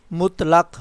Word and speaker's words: مطلق: تردد۔ معائنہ، مطلق، میم کے اوپر پیش ہے تو ساکن ہے اور لام کے اوپر زبر، مطلق۔ شورغل، تقویت، تقویت۔ مقوی، کیا لفظ پڑھنے سے؟